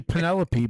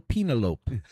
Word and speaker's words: Penelope: It's actually Penelope, but I like to pronounce it like that movie. My Little Penalope.